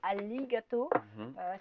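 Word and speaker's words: ありがとう: Ah, donc on dit arigato. Si on veut parler comme les Japonais, le R se prononce L, donc on va dire arigato, qui veut dire merci en japonais.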